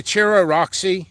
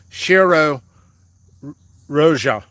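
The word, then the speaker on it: Cheiro Roxa: at this ch chair i always want to say cherry roxy roxa it's that's not how you pronounce it shiro roja shira rojo it's portuguese great believe it or not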